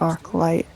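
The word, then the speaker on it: Archylte Steppe: I don't know, people always say it differently. It's spelled arcilt, but I always called it arc light.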